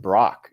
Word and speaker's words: Brack: So, one of the listeners we have who's from the Phoenix area, at least as a Cardinal fan, says it's your last name is pronounced Brock.